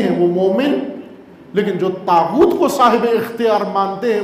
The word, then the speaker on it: طاغوت: طاغوت توئے تین، اس کا صحیح نام ہے تین. توئے ویسے رائج ہو گیا ہے اس کا نام، اصل اس کا نام ہے تین زین. تا زبان کو تالو کے ساتھ لگائیں اور پھر اس کو تلفظ کریں تو ہوتا ہے تا.